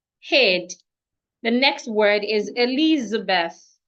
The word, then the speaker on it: Elizabeth: The next word is Elizabeth. Elizabeth. The th put your tongue outside. When you have t and h in a word, if the h is not silent, your tongue should be outside. Elizabeth.